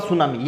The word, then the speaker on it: tsunami: वाले हैं वो है सुनामी देखिए इसका स्पेलिंग टी से शुरू होता है टी और उसके बाद सुनामी ये ध्यान में रखना है इसको हार्बर वे